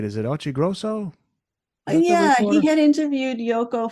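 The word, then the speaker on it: Occhiogrosso: That reveal that they had planned to tour was made to Peter, you got to pronounce it right. Is it Ochigrosso?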